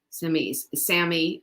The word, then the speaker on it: SAMe: Both our probiotic and our SAMe come that way. SAMI is another way to pronounce it.